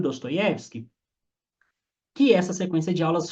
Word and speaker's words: Dostoiévski: Mas parece que a pronúncia é Dostoiévski. Troca o O por A.